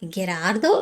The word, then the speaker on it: Gerardo: You have Gerardo, not G entirely, not too much of a H, because that H sound really doesn't exist.